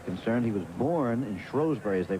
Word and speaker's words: Shrewsbury: As far as citizenship is concerned, he was born in Shrewsbury, as they pronounce it over here, in Shropshire.